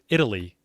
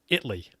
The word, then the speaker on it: Italy: See, I was born in Baltimore, so we say those people are from Italy. Italy, that's right. Not Italy. Italy. Italy. It's 2 syllables, not 3.